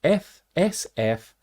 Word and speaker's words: SFINAE: I think is quite often how it's pronounced. It's SFINAE, which stands for Substitution Failure is Not an Error.